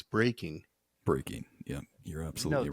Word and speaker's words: breaking: If you're saying break dancing, it's breaking.